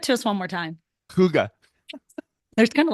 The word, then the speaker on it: hygge: It's pronounced hygge though. Huga. There, yeah, much better. I don't know. I just wanted to say it. Give it to us one more time. Huga.